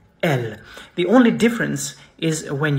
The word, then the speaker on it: elle: You say elle. Not elle, not elle, not il, elle. Elle. Elle. The double L is actually pronounced slow.